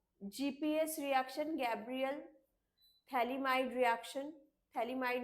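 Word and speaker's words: phthalimide: ये पूरा GPS reaction, Gabriel थैलीमाइड reaction, थैलीमाइड में पी से स्टार्ट होता है, थैलीमाइड का टी साइलेंट होता है, जीपीएस।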